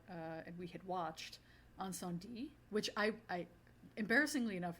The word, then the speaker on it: Incendies: and we had watched Anon D which I I embarrassingly enough Ricky I was um calling this or pronouncing this wrong last week it's not you don't say the the S the end yeah I notic that